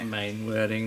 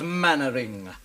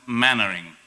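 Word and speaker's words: Mainwaring: Mainwearing. Mainwearing. Mainwearing. Do you think I don't know that you bloody perverts corrupt even your silly names? It's pronounced mannering. 121837. Manoring.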